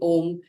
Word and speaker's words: Om: You inhale and then as you exhale you chant om with the three syllables oo m. And if you're able to feel the vibrations as you say m that's when you know you're doing it right.